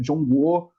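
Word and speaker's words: 中国: do Meio como ele se auto refere né jongo que é como se fala China que a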